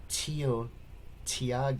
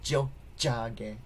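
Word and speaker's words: Tiohtià:ke: The T is more like a D or J, or, DJ sound, right? So when you have, it's not Tio Tiage, it's Jojage, alright?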